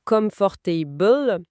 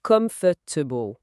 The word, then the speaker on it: comfortable: Ah oui, on ne dit pas comfortable mais comfortable. Comfortable, voilà.